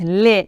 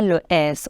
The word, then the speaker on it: les: les l e s les ne prononcez pas le S on dit pas les non les on utilise pour tous